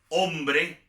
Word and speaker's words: hombre: Por ejemplo, hotel, hombre, esas son palabras, hospital, que llevan H, pero la H no se pronuncia.